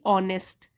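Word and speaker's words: honest: एन लगाते हैं जैसे कि ऑनेस्ट एच साइलेंट होता है उसमें एच ओ एन ई एस टी ऑनेस्ट हम बोलते हैं ऑनेस्ट तो ओ साउंड है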